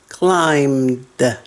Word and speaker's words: climbed: climb, climbed, climbed. No B, no B. Don't say the B. It's silent.